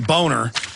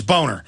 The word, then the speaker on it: Boehner: know why shamed was real name boner I don't know that's how it's pronounced the German is boner I don't know why